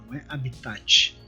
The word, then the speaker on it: habitat: bom então falando sobre a be tá essa pronúncia correta mesmo habitat consiste de maior relevância significa local físico hoje